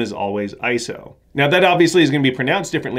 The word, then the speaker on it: ISO: always spelled the same ISO in capital letters but it's not an acronym so it's not pronounced ISO it's actually a word it's derived from the